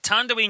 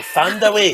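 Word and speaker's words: Thandiwe: I like the fact that she's claimed back the W. So now she's just got a lot of people mispronouncing two parts of her name. You know, Fand away. All right, Fand away.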